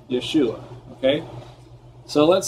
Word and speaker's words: Yeshua: well well we know yeshua if i was going to go directly from there into english we do have a a y and we can say so i can actually say yeshua in english but now we're going